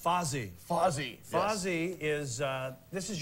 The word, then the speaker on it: Fozzy: Let's talk about, I believe it's pronounced Fozzy.